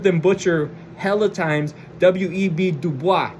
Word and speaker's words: Du Bois: Dubois. No, Dubois. Dubois. It's not the boys like we them boys.